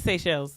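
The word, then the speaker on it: Seychelles: have American uh tongues so it is SE shells yeah SE shells okay so that's we've been saying it right oh yeah yeah he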